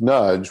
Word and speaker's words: nudge: of our book, and which is nudge, which rhymes with judge.